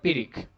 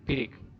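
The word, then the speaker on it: pyrrhic: two unstressed syllables and it's called pirik there isn't much space here so i cannot write so it's called peric p y r r h i c two unstressed syllables right perique then you have spondy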